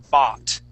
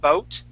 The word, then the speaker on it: bought: o bot okay so here that o u g is going to make an a sound you had said boat okay pronouncing that o and the U together okay this is going to make an a sound so we say bot bot bot okay give me a